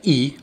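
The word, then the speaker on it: è: When the letter E has a grave accent, it is pronounced E, as in echo.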